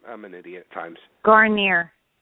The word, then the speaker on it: Guarnere: family and let's welcome uh Debbie and Jean pronounce the last name for me because I'm I'm an idiot at times garer garer that's it I don't want to disrespect the